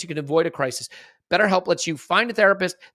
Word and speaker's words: BetterHelp: And this podcast is sponsored by BetterHealth. Look, BetterHelp. Pardon me. See, I need to say it right. BetterHelp. And people do make that mistake, so make sure you don't make that mistake. It's BetterHelp, H-E-L-P.